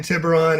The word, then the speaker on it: Tiburon: that's the official story he was living in tiburon yep am i pronouncing it correctly tibrine means shark yeah he was living in tiburon and that's his home he went to redwood